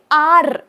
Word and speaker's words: are: तरी मी म्हणते वाय आणि आर जरी ए आर इ स्पेलिंग आहे तरी मी काय म्हणते वाय आर okay why आर you looking so sad today तो र थोडासा सायलेंट उच्चारलाय मी सो अशा छोट्या छोट्या